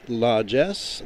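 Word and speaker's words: Lajes: La Jess Les. Less. That's how that's pronounced.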